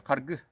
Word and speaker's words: Харгы: И река Харги есть. Только ударение другое. Харгы. По-якутски.